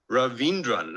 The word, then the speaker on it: Raveendran: The person who joined me this year is Marlo Raveendran. Marlo, have I actually pronounced your last name correctly?